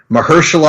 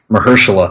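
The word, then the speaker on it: Mahershala: I just learned this weekend, Nick, that we've been pronouncing it wrong on this show for the better part of two years. Mhmer. Mhersula. That's how he said it in the press in the presser.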